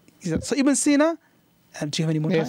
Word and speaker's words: Ibn Sina: Ibn Sina. So Ibn Sina, do you have any more time?